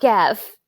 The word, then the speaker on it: Gef: So Gef the Talking Oh, it's Mongoose was Jeff. Jeff, yeah. It's spelled G Gef, so I was like G-E-F. Gef. Gef.